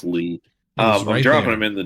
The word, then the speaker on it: Lea: Or is it Lay? It's Nicholas Lee or Lay. I forget. Who played Krychek? I think it's Lee. Yeah. It's pronounced Lee.